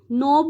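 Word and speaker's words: knob: आर की sound आएगी नोब में के एन ओ भी नोब होता है ठीक है तो के जो है वो साइलेंट है अब रिस्ट जो है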